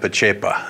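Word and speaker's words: Pacepa: called disinformation along with general how do you pronounce his name Ian mahai p'chepo thank you - tough names there and tell us who he is sure well general p'chepo was the number two man in Romania under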